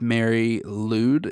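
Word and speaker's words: Mari Lwyd: hard to pronounce things I'm pretty sure it's Mary lwd it's l w y d and it's from Wales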